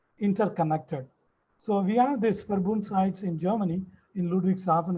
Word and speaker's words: Verbund: We have something called in German, Verbund. This V is called F, as they pronounce.